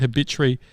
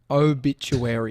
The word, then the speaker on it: obituary: it no no no no no no it's obituary obituary obituary obituary obituary silly